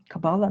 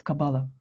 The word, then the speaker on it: Kabbalah: Sometimes it's pronounced like a Kabbalah, but a proper way to say it's Kabbalah.